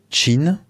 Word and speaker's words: Qin: à la dynastie alors ça s'écrit Q i n mais ça se prononce Chine chose intéressante pour nous